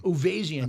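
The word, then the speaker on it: Uvezian: And Avo, how do you say his last name? Uvarian? Uvazian. Uvazian.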